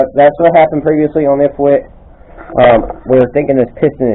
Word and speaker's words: ithwitt: Anyways, that's kind of what's going on ithwitt's channel. That's how you say my name, ithwitt.